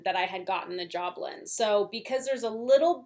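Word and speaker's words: Jobelan: Everyone told me how to pronounce that correctly on my last video. Clearly pronunciation is a thing with me. And I think that's what everyone was saying, Joblin. So that's what we're going with.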